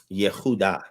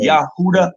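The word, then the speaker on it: יהודה: What is the true pronunciation of Jerusalem if there's not J's? Yehuda. Yehuda. That would be Judah. Yeah. So right? Judah would be Yahuda.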